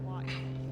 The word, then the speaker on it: Huahine: Wrong stuff says locals refer to the island as Huahine. I love this all. While the French, who don't pronounce the H sound, call it Huahine.